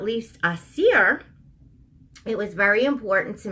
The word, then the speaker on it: Aasir: You kind of roll the R, Aasir.